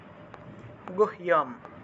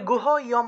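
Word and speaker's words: गुह्यम्: আচ্ছা, ইয়ো ইমাম পরমম গুহ্যম গুহ ইয়া গুহ্যম। এখন এই যে গুহ ইয়ম, যে এই জায়গাটাকে আপনারা এই হসন্ত দিয়ে উচ্চারণ করতে হবে। যদি গুহ ইয়ম বলেন তাহলে কিন্তু হবে না, ছন্দ মিলবে না।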